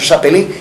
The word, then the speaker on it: Chapelin: Muita gente fala, mas você falou errado, é Sérgio Chapelin mesmo. Se escreve Chapelin, mas se lê Chapelin.